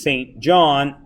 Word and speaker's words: St. John: I also have a son whose name is St. John, pronounced St. John, so he would like to go to St.